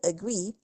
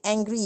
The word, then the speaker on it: agree: Okay, but one thing about the word agree, I used to have students who said angry instead of agree.